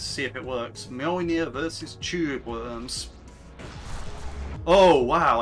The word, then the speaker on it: Mjolnir: Also, if you're wondering, why is it pronounced Mjolnir when it's like got a J? It's because it's a soft J. You don't get that much in the English language, but in European languages, There are quite a